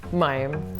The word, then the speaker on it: Mayim: Mayim. Mayim, right? Yeah. People mispronounce it all the time.